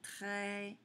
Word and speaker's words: très: Et avec le e, ça fait très. Il y a un s qui est muet, qu'il faudra toujours mettre, mais qui ne se prononce pas.